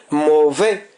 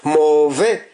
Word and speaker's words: mauvais: Mauvais, mauvais. Avant le S qui ne se prononce pas, nous avons une voyelle, un son vocalique qui se compose de deux voyelles prononcées en une.